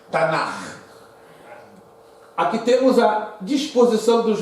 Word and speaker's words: Tanakh: Tem esse nome estranho e se pronuncia, a junção de K e H é Tanakh.